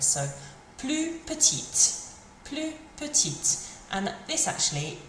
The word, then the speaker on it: petite: So the difference this makes is that when we get the E on the end, it makes us finish on the sound of the letter that comes before it. So plus petite.